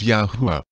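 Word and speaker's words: YAHUAH: spell as y-a-h-u-a-h and it is pronounced as yahuwah as you can see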